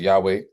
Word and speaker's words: Yahweh: So in the Hebrew text, the name is, we pronounce it here as Jehovah. Many people pronounce it as Yahweh, but the Hebrew consonants of God's name are Yod-Heh, Waw-Heh, which corresponds to YHWH in the English language.